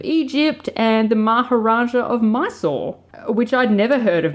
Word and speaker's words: Mysore: the Khedive of Egypt, and the Maharaja of Mysore, which I'd never heard of Mysore, which is spelled Mysore, so I had to Google it.